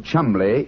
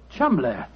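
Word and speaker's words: Cholmondeley: Being an American, he had no reason to know that the name Chumley is in no way pronounced the way it is spelt. But you had never thought of that. Chumley.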